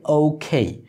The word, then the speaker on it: OK: আরেকটি উচ্চারণ সেটা হচ্ছে ও খেই বাংলাতে আমরা যেটা ও উচ্চারণ করি ইংলিশে কিন্তু এটা ও নয় এটা হচ্ছে ও আর বাংলাতে যেটা আমরা বলি কে এটা আসলে খেয়ে না এটা আসলে খেই তাহলে দুটো মিলে কি